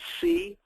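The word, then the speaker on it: CANI: It's C-A-N-I. C-A-N-I is pronounced can-I, of course, but it stands for constant and never-ending improvement.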